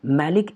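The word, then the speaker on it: malic acid: इसलिए गलत प्रोनाउंसिएशन के थ्रू इन दोनों का डिफ्रेंशिएट करते हैं। इसके लिए बोलते हैं मैलाइक एसिड, मैलाइक एसिड, और इसके लिए बोलते हैं मैलिक एसिड।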